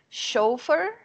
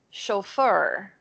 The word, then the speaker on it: chauffeur: Oh, actually, there are two ways to pronounce it. You can say chauffeur or chauffeur.